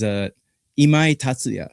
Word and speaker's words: Imai Tatsuya: Yeah, the proper pronunciation of his name is Imai Tatsuya. So Imai Imai is Yeah, he's he's a he's a cocky young guy.